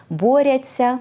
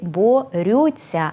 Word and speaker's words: борються: почути вислови на зразок боряться за свободу боряться за свої права боряться за ідею проте правильно писати і вимовляти тільки борються адже це слово належить до першої дієвідміни наприклад борються за